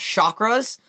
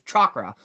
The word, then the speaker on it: chakra: sure when i pronounce chakras i actually tried to pronounce it as correctly as possible besides what i used to say which was chakra no it's chakra um which is one